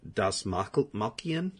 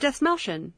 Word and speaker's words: Dastmalchian: David Dastmalchian. Oh, David Dastmalchian.